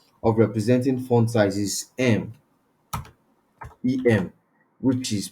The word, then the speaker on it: em: so another way of representing font size is m Em which is pronounced it's pronounced M you understand em then